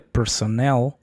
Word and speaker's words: personnel: que te estoy enseñando, que es personel, fíjate, personnel lleva el acento en nail.